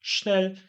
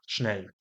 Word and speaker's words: schnell: wesze i teraz nasz przysłówek szybko to jest snel te przysłówki nie odmieniają się nie mają żadnych końcówek a więc po prostu użyję tego słówka sznel i ma Wes sznel ale bardziej naturalną wymową